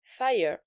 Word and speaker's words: FYA: quatrième chanson de l'album, Fire, qui s'écrit F-Y-A et qui est en fait la prononciation du mot fire, donc le mot anglais qui signifie feu.